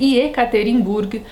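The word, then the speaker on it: Yekaterinburg: cidade então vamos lá a cidade cuja pronúncia correta é ekaterinburg tem nome que sua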